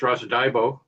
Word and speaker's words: Russell Diabo: Um, yeah, I guess first of all, um, my name is Rosa Dbo. That's the way to pronounce it.